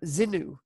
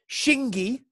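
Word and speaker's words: Xingu: as well the next one this is actually pronounced um zinu it was it was great today at the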